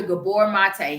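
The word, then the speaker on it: Gabor Maté: Gabor Mate, that's Mate, and it's Gabor. Dr. Gabor Mate.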